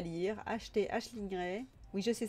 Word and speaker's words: Aisling: Je fais comme Daniel, j'alourdis vos piles à lire, achetez Aisling Ray. Oui, je sais, ça s'écrit Ailing, mais elle dit que ça se prononce Aisling, donc voilà.